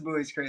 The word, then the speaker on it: Buies Creek: Are you Are you impressed I knew how to pronounce Buoys Creek? That is good. Yeah, that is Buoys Creek.